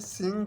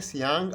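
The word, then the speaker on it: 杏: जो सिंग है तो आपने सिंग को पूरा बोलना है, सिंग, न कि सियांग आप बोल दें। अगर आप सियांग बोल दें तो फिर आपकी जो प्रोनाउंसिएशन है वो गलत होगी और सुनने वाला कहेगा कि कोई और लफ्ज़ बोल रहा है।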